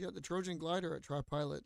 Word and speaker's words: TriPilot: But it's pronounced tree, but it's TriPilot, so it's TRI Pilot X.